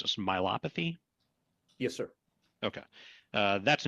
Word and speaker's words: myopathy: And uh tell me how how am I supposed to pronounce this? Myopathy.